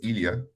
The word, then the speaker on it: Ilya: no worries no worries that's uh pronounced as Ilya actually and India that's the Slavic form of Elijah so the same guy